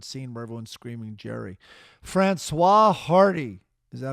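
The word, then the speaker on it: Françoise Hardy: How would you pronounce those songs? Francois Hardy.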